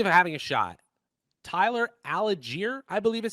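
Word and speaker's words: Allgeier: of outcomes are for tyler algiere a-l-l-g-e-i-e-r is how we say it okay we're gonna get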